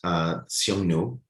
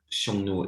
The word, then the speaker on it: Xiongnu: The thing is that Xiongnu is modern Chinese pronunciation, right? Historically, the Chinese pronunciation was Hanyu. So it actually sounds very similar to the other words for Han here.